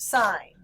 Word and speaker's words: sine: to church on Sundays we have sign is pronounced sign cosine is pronounced co sign and then tangent